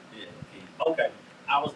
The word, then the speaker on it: Keezy: to officially welcome, am I saying it right, Keezy? Yeah, Keezy.